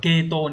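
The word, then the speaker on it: 系統: Đọc là keto.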